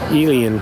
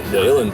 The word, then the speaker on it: Uilleann: So I know you also play the Elian pipes. Yeah, the Uilleann pipes. Uilleann, sorry. Yep, pronounced Uilleann's the Irish word for elbow, and it's spelled Uilleann.